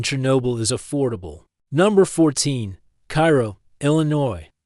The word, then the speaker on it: Cairo: Number 14, Cairo, Illinois. Pronounced Cairo, not like Egypt.